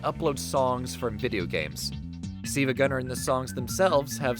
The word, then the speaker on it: SiIvaGunner: You see, you might have been wondering why I'm pronouncing this word the way I am. It is because that's not a lowercase L, but in fact an uppercase I.